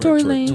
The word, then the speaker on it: Tory Lanez: Tory Lanez. Right? Tory Lanez.